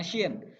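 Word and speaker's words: ش: Bibirnya, mulutnya yang bagian atas harus agak monyong gitu, biar lebih jelas pelafalannya.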